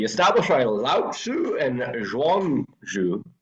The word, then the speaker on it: Zhuangzi: for philosophy established by Lao Tzu and Zhuangzi. I know it's ZI, but that's how it's pronounced.